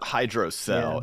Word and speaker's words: hydrocele: How's it pronounced? Did you say The doctors all hydroflask? said hydrocell.